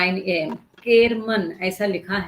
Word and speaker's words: केरमन: आर एम ए केरमन शायद मैंने schedule में खरमन करके डाला है तो आईम सो सॉरी तो वो ग्रुप वहां पर 9 बजे केरमन जैसा स्पेलिंग है वैसा ही मैं प्रोनाउंस करूंगी बेटर क्योंकि आपके स किताब